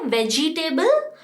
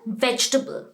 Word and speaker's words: vegetable: वेजिटेबल? No, it's called vegetable. What is it called? Vegetable. VEGE. जो दूसरा वाला E है G के बाद, that is silent.